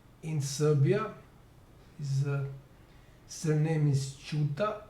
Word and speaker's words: Ćuta: His surname is ČUTA. It's C with a diacritical slash over it, which is pronounced as č in Serbian.